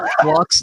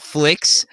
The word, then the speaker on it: Flux: Yeah, his name's actually pronounced Flux, not Flix.